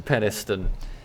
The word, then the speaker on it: Penistone: It's pronounced Penistone, or at least that's what they tell me.